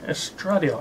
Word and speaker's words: estradiol: that up on Google uh yes drug deal estradiol I thought it was s3 at all but